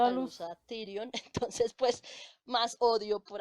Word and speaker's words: Tyrion: Y con Tyron, Con Tyrion, Tyrion. Ay, porque yo no pronuncio bien las cosas.